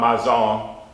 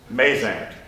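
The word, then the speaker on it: Mazant: And today we know about Mazon from the city of New Orleans, where there's a street that we mispronounce, Maisant.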